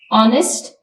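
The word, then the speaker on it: honest: silent bomb B silent ऑनेस्ट H silent autumn N silent Island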